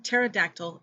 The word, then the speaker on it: pterodactyl: p has no phoneme it is usually silent when followed by s t or n at the beginning of a word examples are psychology pterodactyl and pneumonia here are some more